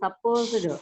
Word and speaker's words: supposed: We should not pronounce that D word.